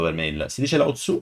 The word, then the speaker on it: Laozi: Si dice Lao Tzu o lo sto pronunciando malissimo? È Laozi.